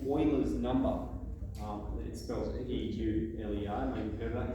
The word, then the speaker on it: Euler: use logarithms in basically is what we call euler's number it spells eq lei mathematician pronounced euler german he so this number's a